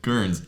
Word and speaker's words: Guernsey: Guernsey. Oh. Guernsey, yeah. Yeah. Actually, officially, the bailiwick of Guernsey.